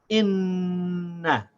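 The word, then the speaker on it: إِنَّ: So we say inna.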